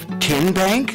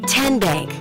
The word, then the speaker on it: TN Bank: Tin Bank? Uh-uh. So, what is it? Ten Bank. Ten as in Tennessee.